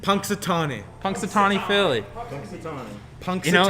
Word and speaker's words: Punxsutawney: Could you please pronounce that name? Puxtonani? Punxsutawney.